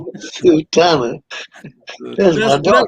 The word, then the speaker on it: Sultana: Name is Sister Satana. Sultana. That's my Did I daughter. pronounce that right? Assalamu alaikum. Wa alaikum assalam, sir. How are you? Good. Yeah, it's Sister Sultana.